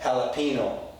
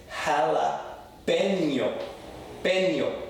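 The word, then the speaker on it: jalapeño: But let me stress, it's not jalapeno, okay? It's not jalapeno. It's jalapeno.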